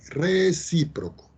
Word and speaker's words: recíproco: Acento en la I, recíproco.